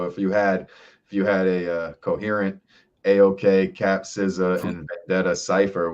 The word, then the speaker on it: AOK: First time I met him, I called him Ayok or some shit like that. And he like gave me this look like, fuck, another dude like can't say my name. But then I was like, oh, AOK. Okay, that makes sense. Way more sense than Ayok.